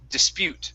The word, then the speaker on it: dispute: was good uh but it's the stress okay so instead of dispute the word is dispute the stress is at the end of the word okay dispute